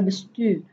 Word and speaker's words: bestuur: Kemudian ada bestuur. Ini cara ucapnya adalah U Belanda. Bestuur, seperti itu.